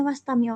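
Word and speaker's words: واستمعوا: Dari sini wastamiu bacanya wastamiu aja hamzahnya enggak usah dibaca karena hamzah fasal ya.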